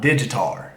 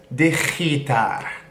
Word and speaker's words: digitar: It's not digitar. It's not a Digimon, It's digitar. Digitar. It's going to be a bit like when you get into J's and pronouncing J's, you're going to have a little bit of that.